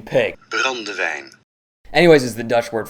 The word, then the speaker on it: brandewijn: Its name is derived from Brandywigen. Brandywine? Pronunciation pig. Brandewijn.